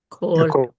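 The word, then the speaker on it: כל: Or in the unstressed form, kol. So there's that principle again, that original oo vowels turn into o vowels in a stressed syllable or kamatz katan in an unstressed syllable.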